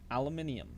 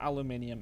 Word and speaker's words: aluminium: a substitute as is aluminium or aluminum however you want to pronounce it I'm pretty sure aluminium is the proper way the level two then